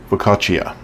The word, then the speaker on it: focaccia: this but saying it right the whole time focaccia and you'll see it on one of my